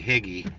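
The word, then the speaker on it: Hegee: to make a left she's gonna say huge Road it's actually higgy h-e-g-e-e they everybody here forever and ever is pronounced it higgy but she calls it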